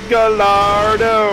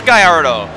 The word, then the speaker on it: Gallardo: the car he owned he owned a Gallardo and he didn't know how to pronounce it my Lamborghini gardo gardo I love putting